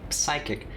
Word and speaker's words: psychic: seems alright to me i don't know anyone except you who pronounces the p on words like psychic if the world didn't want me to pronounce the p why would it be written there oh but whenever i